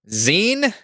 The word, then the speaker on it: zine: long-form vowel I think it's supposed to be zine but anyway it's a